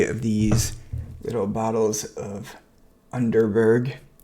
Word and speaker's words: Underberg: these little bottles of underberg or unterberg if you want to pronounce it like the Germans because you know the